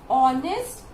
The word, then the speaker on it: honest: Because in both the words this H is silent. Okay, and because the H is silent, so it is giving you the pronunciation of honest and R.